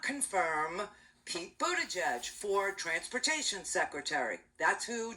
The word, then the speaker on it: Buttigieg: Granholm, the former governor of Michigan, and Pete Buttigieg, who will always be Mayor Pete, because most of us have never learned to pronounce his last name properly.